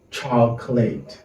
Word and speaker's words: chocolate: The letter O is silent. We say chocolate.